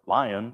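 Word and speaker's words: Lyon: Irenaeus of Leyon uh or lion if you want to pronounce it like that but he says this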